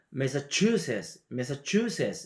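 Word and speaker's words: Massachusetts: 이제 존 퀸시 애담스가 매사추세츠 주인데 요것도 강세가 어디 가냐면 매사추에 가거든요. 그러니까 제일 강세는 매사추에 가고 이 강세가 매사추세츠에 가니까 매사추세츠 이렇게 얘기해야 되고 뉴욕도 이제 뒤에 강세 간다고 그랬잖아요.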